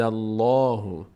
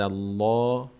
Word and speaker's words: الله: پر باز میشه خب بعدش لفظ جلاله الله به کمک برای تلفظ قض به کمک این فتح نیاز داره. این دال می‌چسبه به لام و چون قبل از لفظ جلاله فتحه قرار گرفته پر خونده میشه.